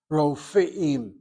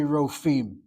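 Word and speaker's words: רופאים: The proper pronunciation of doctors is Ro, CV, then CI and CVC for the second syllable. Rofeim. The tendency among Israelis is to say Rofim.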